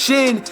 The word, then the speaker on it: Shin: It's not a contestant, he actually won, but I know his last name is pronounced Shin, and I'ma just say Shin.